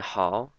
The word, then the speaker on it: 好: So it's 我 and hao, H-A-O, down, up.